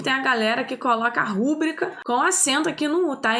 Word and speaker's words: rubrica: todo mundo erra né a gente fala rubrica mas o certo é rubrica Inclusive tem a galera que coloca rubrica com acento aqui não